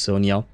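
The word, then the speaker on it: Sonja: So basically Sandra, but it's pronounced Sonia.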